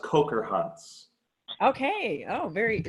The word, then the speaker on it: Kocherhans: correct you were close pretty close it's actually pronounced coker hunts okay oh very sounds German I'm German so